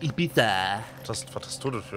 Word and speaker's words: Ibiza: Hey, how are we going to Ibiza? Oder wie es richtig ausgesprochen wird, Ibiza.